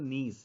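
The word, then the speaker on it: gneiss: होता है इसको बोलते नीस जी जी साइलेंट होता है जिसे ज़ोर तो इसमें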